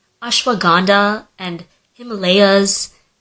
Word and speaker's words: Himalayas: literally anytime it has to do with the pronunciation of an Indian word I'm the one who's being corrected like ashwag gandha and Himalayas it's Himalayas and it's ashwag gandha I feel like every